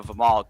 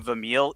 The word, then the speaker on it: Vimal: Like, you know, one of his big donors right now, Vimal, great guy, right? Like, he kept calling him Vamil, even though like people on the panel were saying Vimal, and he just kept saying Vamil.